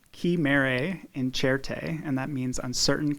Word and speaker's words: Chimere Incerte: so the the exhibit coming in is called ki mare in cherte and that means on certain chimeras it's an